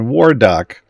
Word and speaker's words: Warduke: Yorven's in 10, and Warduke is in 8.